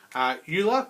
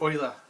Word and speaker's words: Euler: Okay, a lot of people mispronounce his name and say Euler, but it's actually Euler. He's a famous mathematician. It was around in the 1700s, okay, but it's Euler, not Euler.